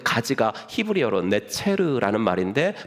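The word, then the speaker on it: נֵצֶר: 왜냐하면 이사야서 11장 1절에 그 가지 나무에서 가지가 난다 그랬때 그 가지가 히브리어로 네체르라는 말인데 발음이 나자르라고도 발음이 돼요. 나자르.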